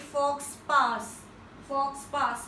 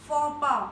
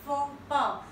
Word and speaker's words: faux pas: I'm sure kafi logon ne isko pronounce kiya hoga like fox pass, but it absolutely incorrect. The right pronunciation is FOPA. I repeat it once again, FOPA.